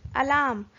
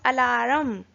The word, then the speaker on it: alarm: this word alarm has silent are in it alarm we don't pronounce it as Al Ahram we pronounce it as alarm so my chapters